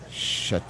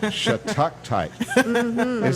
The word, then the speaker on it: Shattuckite: Like stalagmite. No. Stalactite. Bad news if Graham's never heard of it. That's This is. Here you go. There it is. There it is. can you spell that for me? Hold. You were right, It's almost. SHATTUCKITE. It's a mouthful. Shattuckite, that says. Shattuckite. It doesn't have two Shattuckite. T's. It does. It's a double T.